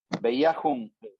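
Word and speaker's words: Bejahung: Acá en nuestro curso de alemán seguimos con el curso de alemán y es Veiajum, la J se pronuncia como I, Veia, y la H se pronuncia como J.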